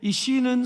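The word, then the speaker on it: איש: 그 다음에 매산차처럼 생긴 게, 이 산 모양처럼 생긴 게 시인데 이 시는 소리가 시의 발음이 그냥 우리나라 시옷이라고 생각하시면 돼요. 자, 그래서 이시가 되는 겁니다. 이시.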